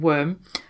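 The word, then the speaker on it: wyrm: to get into so the word worm and it is spelled as in like earthworm comes from the anglo-saxon word worm which is spelled w-y-r-m and this was a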